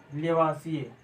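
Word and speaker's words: Lavoisier: लेवासिए। लेवासिए, और English spelling में लिखा होता है लेवाइजर।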